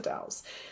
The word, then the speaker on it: Dalles: But it's spelled like, so for people, it's spelled Dalles, but it's the Dalles.